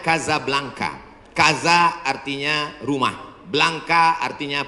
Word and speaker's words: Casablanca: nama negaranya Maroko ibukotanya tulisannya Casablanca cara bacanya Kadzab langka Kaza artinya rumah Blanca